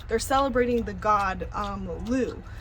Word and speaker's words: Lugh: celebrating the god um Lou it's spelled l-u-g-h but it's kind of pronounced Lou so that's where you